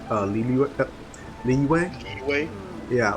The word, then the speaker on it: Liyue: realize the pronunciation of Liyue. Liyue? Yeah, like it just basically, like, as soon as I realized that it's just those are two different, like, syllables, so to speak. It's Li and Yue.